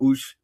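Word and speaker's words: Oech: It was by Roger Van uh I pronounce his name E. I think it's UK or Ush O E C H.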